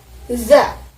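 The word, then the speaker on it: ざ: Za.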